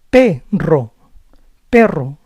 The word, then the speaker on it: perro: Double R also sounds like a rolling R. Ra, re, ri, ro, ru. Perro, perro.